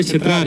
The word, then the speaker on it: چترار: لیکن لفظ چترال نہیں ہے یہ اصل میں. اچھا, یہ چترار ہے. چترار, ہاں چترار ریس ہے. اوکے اوکے اوکے, چترار ہے. تو یہ باہر والوں خوشدان پشتونوں نے اس کے تلفظ اس کو چترال کیا, پھر انگریزوں نے